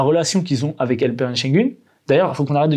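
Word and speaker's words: Şengün: dessus et j'ai regardé, il y a un tréma dessus, ça se dit U. C'est Shengun, c'est s'il y avait pas eu de tras sur le U.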